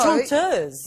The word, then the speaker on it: chanteuse: So, Chanteuse. Yeah, it's the French for... Female singer. Female singer, chanteuse.